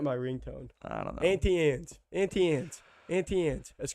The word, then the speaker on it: Auntie Anne's: evidence we pronounce it as auntie and we pronounce it as auntie anne's but i do know that some folks say auntie ants cool so we the ones that are right